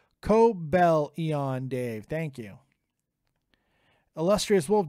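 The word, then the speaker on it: Cobalion: controller like that uh gun Canen it's pronounced Co Bellon Dave thank you illustrious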